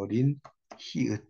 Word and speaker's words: 여린 히읗: 요 글자는 이제 여린 히읗이라고 읽어요. 여린 히읗 글자입니다.